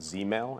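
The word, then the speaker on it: ZZZ mail: we implemented a policy called Z mail and it's spelled Z Z Z mail sort of a nod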